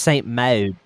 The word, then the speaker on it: Saint Maud: So actually, it's pronounced Saint Maud.